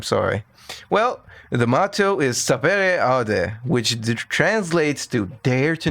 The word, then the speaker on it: sapere aude: Which Oh my god, it's just sapere aude. It's just sapere aude. I I cannot cut that. I'm sorry. Well, the motto is sapere aude, which translates to dare to know or have